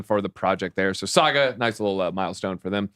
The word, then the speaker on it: Saga: move them around right Saga I thought was Sega Saga launches I literally asked I'm not gonna say his name I say Sega the the game company he's like yeah yeah no Saga all right Saga Saga